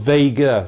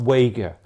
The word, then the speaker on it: Vega: is a German modification Vega is pronounced with W in Germany so it's it is actually called Vega not Vega but with Vega telescopes